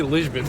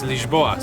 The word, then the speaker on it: Lisboa: Why did I say Lisbon? Lisbon, welcome to Lisbon. We actually learned that the way to pronounce this place is Lisboa, so I guess that's why it came out.